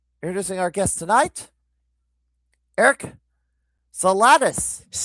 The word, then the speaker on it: Zalitis: Introducing our guest tonight Eric Salatis. is my name.